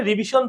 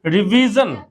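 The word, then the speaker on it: revision: কি হবে এটা ডিসিশনভিজন আমরা এটা কি বলি রিভিশন দিয়ে তাই না আমরা পাঁচবার রিভিশন দিয়েছি এই এটা এটা হচ্ছে ভুল উচ্চারণ এটা হবে কি রিভিজন এইটা দেখো পুরা জাতি ভুল করে কি এটাকে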